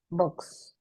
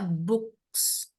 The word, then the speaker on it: box: then ini Box. kedengarannya malah kayak books. Jadi pelafalannya malah mirip book kayak gini. Buku. Yang benar adalah box.